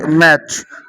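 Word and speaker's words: match: তো এই কারণে কিন্তু টি এর পরে সিএইচ থাকলে টি এর উচ্চারণ হয় না।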